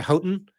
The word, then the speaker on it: Houghton: It's you have to go basically to Houghton. That's how you pronounce it.